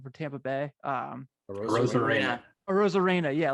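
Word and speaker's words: Arozarena: use Randy Arizona, I always get his last name wrong, for Tampa Bay? Rosarena. Rosarena, yeah.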